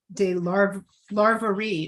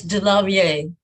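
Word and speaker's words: DeLarverie: legendary male impersonator stormy de la larvare oh michelle did i say it correctly it's de la vie thank you i should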